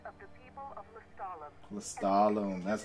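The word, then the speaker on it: Lestallum: Lestalem, that's how you pronounce it.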